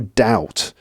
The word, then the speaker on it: doubt: said he had no doubt notice the pronunciation of Doubt here the B is silent right no doubt he